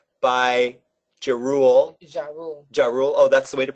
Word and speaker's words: Ja Rule: Ja Rule. Oh, that's the way to pronounce it?